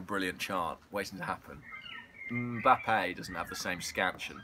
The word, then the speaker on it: Mbappé: go to Arsenal and how do you say his last name I say mbappe but I used to say map and then all the people on YouTube told me I was wrong which was disappointing because